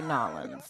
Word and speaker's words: New Orleans: at me like that that's how they say it they say nollens they don't say new orleans like the rest of us do new orleans no people from new orleans say nollens okay